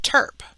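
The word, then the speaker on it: TURP: for coronary artery bypass graph we also have terp which stands for transurethral resection of the prostate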